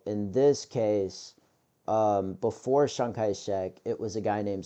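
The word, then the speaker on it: Chiang Kai-shek: Um there was a person before Shankaek which I people pronounce it Sanka it's pronounced Shankaek I promise you and um in this case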